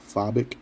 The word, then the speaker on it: Fobik: A lot of people don't know the context behind the name Fobik, F-O-B-I-K. It's how it's spelled and how it's pronounced.